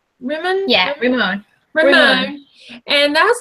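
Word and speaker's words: Rimon: But what would you say you took away most from, because you went to, am I saying it right, Ramon? Yeah, Ramon.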